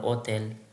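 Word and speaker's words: hotel: যেমন হোটেল, এটা কখনোই হোটেলের উচ্চারণ করে না, করে হচ্ছে অ থেকে উচ্চারণ করে ওতেল।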